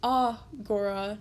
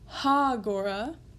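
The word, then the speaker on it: ἀγορά: Now you'll notice it's agora, not hagora, and that is where breathing comes in. So breathing marks are used to denote whether or not there is an H sound at the beginning of a word that begins with a vowel. So here, it's not ha-gora, it's a-gora.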